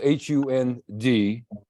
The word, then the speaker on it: Hund: school 65 years ago, Hund was H-U-N-D, and we pronounced it Hund. So the Germans would spell the word with a D, but pronounce it more like a T.